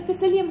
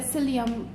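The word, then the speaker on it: psyllium: كنت قاعدة أقول فيسيليوم هاسك، واحدة قالت لي هو النطق ماله فيسيليوم ولا سيليوم؟ كلامها صح، المفروض يكون سيليوم، بس لأنه بالعربي دائما أشوفهم يكتبونه فيسيليوم فكنت قاعد أقول فيسيليوم. صح، النطق ماله سيليوم مو فيسيليوم.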